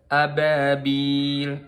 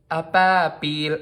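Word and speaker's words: أبابيل: Kesalahan yang kedua yaitu kita mengucapin ba tapi kita membacanya seolah-olah kita baca huruf P. Jadi apabil, apabil. Kayak ba. Ini juga salah.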